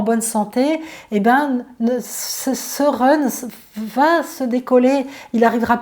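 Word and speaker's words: Hun: Je pense par exemple à l'esprit du foie qui s'appelle le Run, ça s'écrit H-U-N, mais le Run, s'il n'est pas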